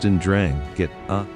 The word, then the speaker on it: 'Ndrangheta: The 'Ndrangheta, pronounced Ndrangheta, originated in the poverty-stricken region of Calabria in southern Italy during the late 19th century.